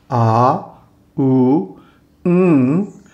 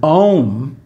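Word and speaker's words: ॐ: So the people who mispronounce it, Aum, are completely off base. It's āūṁ, with a nasal pronunciation at the end.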